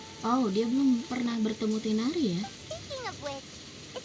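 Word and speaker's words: Tighnari: If we need help, Tainari is the best option.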